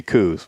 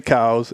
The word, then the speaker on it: Coues: when someone says it's it's supposed to be coos well that's it's just patently false it's supposed yeah it's supposed to be cows and you can pronounce it any way you